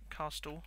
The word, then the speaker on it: castle: Then, inside that castle, castle, that's how it's spelled but not how you pronounce it, inside the castle